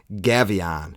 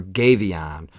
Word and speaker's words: Gefion: series goddess's series and this is going to be gavon or gavon or geff there's a bunch of different PR pronunciations but I actually like and it's easiest for me to say gavon and that's what we're